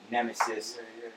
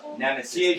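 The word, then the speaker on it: Knemesis: The Nemesis. The Nemesis with a K-N-E-M? silent K. Okay. Yeah, there's a silent K on the Nemesis.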